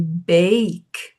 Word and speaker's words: bake: A gente tem a palavra back, por exemplo, B a c aberto, a vogal aberta. Aqui a gente pronuncia ela fechada como em bake e lake e make.